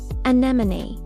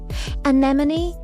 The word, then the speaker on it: anemone: The stress is on the first syllable. Photograph. A beautiful sea creature. Anemone. Anemone.